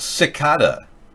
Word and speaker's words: cicada: Oh, it's pronounced cicada.